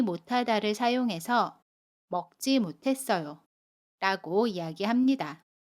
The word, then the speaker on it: 못하다: 두 소리가 합쳐져서 티읕으로 발음해요. 그래서 못하다, 라고 발음해요.